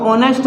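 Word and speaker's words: honest: बात तो यहां पर जो है ह साइलेंट है तो इसको ऑनेस्ट बोलेंगे तो यहां पर क्या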